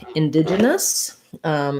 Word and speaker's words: indigenous: so for in digest um has second syllable stress so the first in is unstressed and then it looks like the word dig but we use a j here indigenous so we have that j sound that we talked about